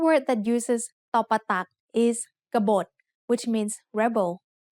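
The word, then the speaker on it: กบฏ: kabot which means Rebel gabot has two syllables just like the word can which we have learned in lesson 14 there is an Unwritten s after the first consonant and there is an Unwritten s o between B and to both syllables have middle class initial consonants and both syllables have de endings so they are both low tone now it's time for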